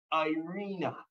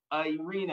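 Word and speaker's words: eirene: And that word peace is stated or is known as, and I'm going to try to pronounce it well, Irena. Irena, I spelled E-I-R-E-N-E. Irena.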